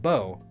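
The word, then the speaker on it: Beau: funny name already so at bear Bay you pronounced bow it's a common nickname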